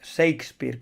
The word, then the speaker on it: Shakespeare: Que por cierto no se pronuncia Shakespeare, que a veces lo digo así, es Shakespeare, como agitar, ¿vale?